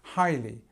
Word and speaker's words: highly: Now, it's kind of an easy word to pronounce, actually. We've got this li sound, which is here, and we've got this double vowel sound, I, here, and we start the stresses at the beginning, so it's highly, highly.